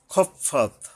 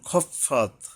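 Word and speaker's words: خفت: ওয়া আম্মা মানস খফাত, এখানে নুনকে স্পষ্ট করতে হবে। মান খফাত, খ উচ্চারণে সাবধান হতে হবে, খাফাত হবে না, কারণ এটা হরফের ইস্তিওয়ালা, মানে মোটা করে পড়তে হয়, আকার বলা যাবে না।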